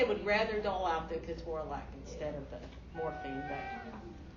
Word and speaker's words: ketorolac: Yeah, Ketorolac.